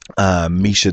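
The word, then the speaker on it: Miesha: It's spelled Maisha, but it is Misha.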